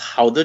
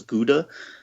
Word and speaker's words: Gouda: And then also there, they did a demonstration of, it's actually pronounced Gouda cheese. I always thought it was Gouda, but they pronounce it Gouda.